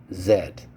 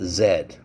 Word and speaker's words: Z: z yeah the letter is z do we pronounced it Zed this is the last letter I think this alphabet called Zed Zed it sounds like a z like a b